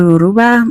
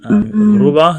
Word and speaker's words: Yoruba: Oh my God, you're Yoruba. Yoruba. See, I wouldn't say it like that, but close enough. Yeah, our R's are very rolled.